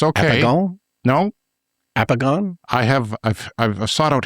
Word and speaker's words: El apagón: El apagón.